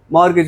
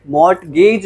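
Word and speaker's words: mortgage: है तो क्या बनेगा मॉर्गेज क्या बनेगा टी साइलेंट है मॉर्गेज इसे क्या बोला जाता है मर्ज बोला जाता है और उसने यहां पर पूरा का पूरा यही बता रखा है कि कैसे से प्रोनाउंस करना प्रोनंसिएशन क्या होगी इसकी मर्ट गज नहीं होगी मर्ज होगी सिंपल है आगे चलते हैं कहता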